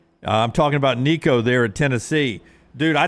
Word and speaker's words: Nico: you mine Probably sounds it rhymes with blinko or Dinko or moo or tinko I'm talking about Nico there at Tennessee dude